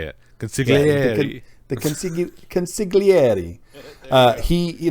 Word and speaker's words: consigliere: It's just like one of those wiggly Italian words. Consigliere.